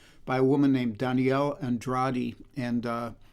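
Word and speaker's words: Andrade: A lot of times people get the name wrong, but it's Danielle Andradi.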